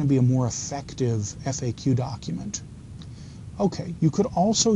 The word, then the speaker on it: FAQ: And please don't call it a FAQ, okay? Don't pronounce that. It's FAQ, frequently asked questions.